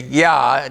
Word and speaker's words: Yah: Y-A-H-W-E-H, and most of us say Yah, Y-A-H, as a short pronunciation of the name Yahweh.